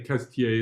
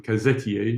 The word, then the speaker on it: Cazetiers: Incidentally, I will just say I've been saying Cazetiers as if it's almost just 2 syllables rather than 3, rather than Cazetiers. You certainly don't want to stress the E.